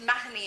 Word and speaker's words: Mahoney: were from and um the mahoney is as it's pronounced mahini in ireland is my husband's coat